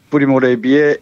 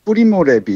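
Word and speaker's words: Primo Levi: 이탈리아식 발음으로는 프리모 레비 이렇게 읽는데요. 표기법에 따라서는 프리모 레비라고도 합니다.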